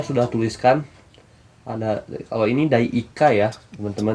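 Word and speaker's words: 第1課: Di sini saya sudah tuliskan ada, kalau ini Dai Ikka ya teman-teman dibacanya, yaitu bab ke-1.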